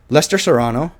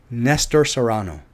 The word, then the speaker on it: Nestor Serrano: here in Washington and Lester Serrano is it Lester Serrano oh my God no it's not Lester Saran it's it's uh surround search Toronto oh my God I am so sorry I got your name wrong it is I know it every time I see it I Serrano Nestor not Lester Nestor Nestor Serrano great actor I like